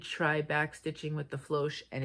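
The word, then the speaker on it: Floche: And I decided to try Floch. Floch is spelled F L O C H E if you're wondering.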